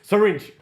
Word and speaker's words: syringe: to say syringe bro apparently very syringe two syllables listen we have needle